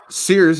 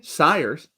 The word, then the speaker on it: Siers: Siers, as I call him, which I mispronounced both those. It's Jeremy Siers. That's how you actually say his name.